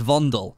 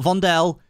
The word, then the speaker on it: Vondel: getting a brand new map called vondel It's pronounced vondel not vondel it's called vondel oh I've been told and